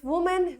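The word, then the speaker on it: women: Same is the case with वुमेन विमेन, pronunciation थोड़ा change होता है, यहाँ पे वी से वुमन एंड विमेन, राइट।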